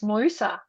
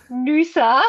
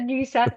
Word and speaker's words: Noosa: So, but you didn't say it correctly. It's Noosa. Oh, Noosa. Yeah. Stop Stop saying Noosa. Say Noosa.